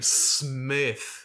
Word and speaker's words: Smythe: of ice and fire it would be s-m-y-t-h i'm pretty sure there was a smythe but that's yeah i know but he'll say it was actually uh pronounced smith still god damn it